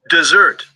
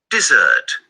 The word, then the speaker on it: dessert: Look, here you have D, and you have this apostrophe, like this little accent here, which means that this syllable, the one with the number 3, is stronger, plus those two little points here, which means that this E is you're gonna make it longer.